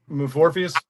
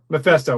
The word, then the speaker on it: Mephisto: How do we pronounce this dude? Morpheus? Oh, Mephisto. Mephisto.